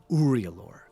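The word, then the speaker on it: Uriulor: house trus which you're familiar with and house uror uror is spelled u r i u l o r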